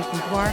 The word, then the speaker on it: boudoir: So in the traditional sense, if you want to get all fancy and use the French pronunciation, it's boudoir. But, I use boudoir because I don't say croissant for croissant.